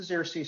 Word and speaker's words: Xerces: tell you just a tiny bit um it's pronounced the xersea society and we're actually named after the first